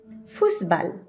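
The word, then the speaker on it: Fußball: নাম এস সেট এবং এটার উচ্চারণ হচ্ছে ইংরেজি ডাবল এস এর মতন ইংরেজিতে কোন ওয়ার্ডের ডাবল এস থাকলে যে ধরনের উচ্চারণ হয় ঠিক তেমন যেমন ফুসবাল ফুসবা এবং মজার ব্যাপার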